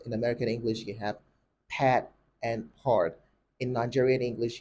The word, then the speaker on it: Pat: Pat simply there's no there's little to know distinction between the name Pat and the word part in Nigerian English now when it comes to British and American English you realize that there is a certain level of degree of openness in pronouncing Pat in British English Pat in American English it's simply Pat it's open but it's